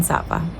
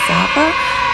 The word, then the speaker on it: Sa Pa: It is day two of our day here in Zappa. I think I said it wrong. Hold on. Let me just do it again. It's day 2. It's my day two here in Sappa and I woke up around 10:00 a.m.